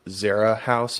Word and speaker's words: Zera House: you are the founder and the ceo of zara house am i pronouncing that correctly yes you are all right